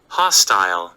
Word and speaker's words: hostile: 근데 여기에서 제가 집중하고 싶은 거는 이 소리가 hot 할 때 똑같아요. 입이 최대한 많이 벌어지는 거예요. 엄지손가락이 아주 자연스럽게 들어갈 정도의 간격으로 hot 할 때하고 똑같이 벌어져요.